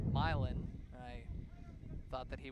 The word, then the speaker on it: Milan: not with the town outside of an arbor pronounced milin even as a michigander I learned of that